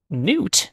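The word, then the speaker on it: Nut: so far good um n is not the same word as new okay you still following along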